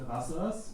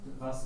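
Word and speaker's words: rāsa: So ras with a short a and the ras with a long a, ras.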